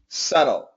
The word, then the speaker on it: subtle: a tough one now don't worry about that b the pronunciation is subtle subtle good do I'll tell